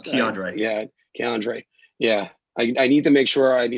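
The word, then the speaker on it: K'Andre: there be a problem or i'm sorry it's k andre it's andre yeah andre yeah i need to make sure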